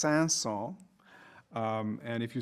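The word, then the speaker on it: Saint-Saëns: mention by the way the composer's name is pronounced sansol and if you say the character's name in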